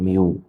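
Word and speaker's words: μ: من الوتر هي ميو الحرف ده ينطق ميو وسرعه الموجه المنتشره هي في فاي المعادلات التاليه من الممكن ان تكون صحيحه؟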